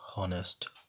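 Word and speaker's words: honest: ठीक, अब यहाँ कह रहे हैं यदि कोई वर्ड एच से शुरू होता है और एच के बाद वोवेल का प्रयोग हुआ है लेकिन एच का उच्चारण साइलेंट होता है तो उस वर्ड से पूर्व ए का प्रयोग ना करके एन का प्रयोग किया जाता है। ठीक है, ओके, जैसे एन हॉनेस्ट, N hours, N hair.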